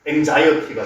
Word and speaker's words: anxiety: 그래서 X의 발음은 크게 두 가지다. 뭐하고 기억 시옷이 되는 경우하고 그 다음에 아예 지읒이 되는 경우하고 크게 두 가지로 나뉜다고 생각을 하시면 됩니다. 여기서는 기억 시옷으로 쓰이고 여기서는 지읒으로 나오는 거죠.